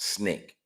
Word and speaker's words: SNCC: his dissatisfaction with the treatment of blacks in america prompted him to join the student nonviolent coordinating committee the sncc pronounced snake his talented vocal expression